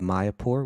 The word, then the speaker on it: Mayapur: YouTube and you you search for I love Maya poor which is spelled m-a-y-a-p-u-r I love my airport which my